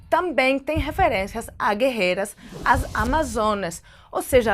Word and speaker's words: Amazonas: tem referências a guerreiras Amazonas Ou seja a pronúncia em português da palavra Amazonas bem parecida quando o grego Amazonas e de acordo com a